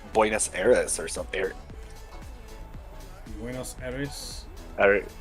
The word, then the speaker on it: Buenos Aires: Buenos Aires? Alright. You gotta roll the R. I can't roll my R's. I gotta roll the R. Oh, I can do it. Buenos Aires.